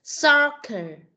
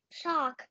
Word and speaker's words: soccer: Sock. No, không đọc là sock, mà con đọc là soccer. Sock. Không có, không phải là sock, mà là soccer. Cái từ cờ, con phải nói nó ra được.